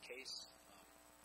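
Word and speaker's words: Kees: I show people how to pronounce my name, which is just Case. It's spelled K-E-E-S. That's the Dutch spelling.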